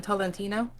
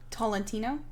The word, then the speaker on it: Tolentino: tortoline hold on tino i don't know how to pronounce her name at all i think it's madeline toldantino tolentino thank you steve thanks